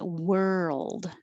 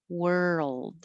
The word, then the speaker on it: world: it's the same sound in world so think of were like where were you world and then take time for your tongue to move from the r to the l world now back to 26